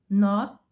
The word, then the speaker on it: knot: I have hot, jog, pot, cop, boss, caught, lock, got, caught, bought, not with the K. That is, we don't pronounce the K when we have the letter N following.